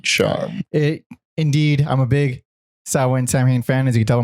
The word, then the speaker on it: Samhain: So let's already get into it with the fucking name of the band, because So traditionally, or normally, I guess, it's pronounced Samhain.